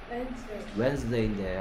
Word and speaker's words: Wednesday: 원래 발음 뭐예요? Wednesday인데 안 외워져, 스펠링이 안 외워져서 웨드네스데이라고 외웠대요.